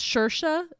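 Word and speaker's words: Saoirse: shersey I don't knowers it's shersha but they spell it so crazy wait are you talking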